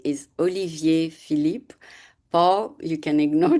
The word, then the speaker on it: Olivier: Uh, the other one, the most common, is just to skip the high and say Oliver. Hmm. And some of them, succeeding in saying Olivier.